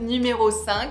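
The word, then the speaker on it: numéro cinq: is of course the Chanel numero s so not number five but numero s and I have here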